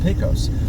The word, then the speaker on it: Pecos: I say it both ways because I've had comments from folks telling me, you're a moron, it's pronounced Pecos.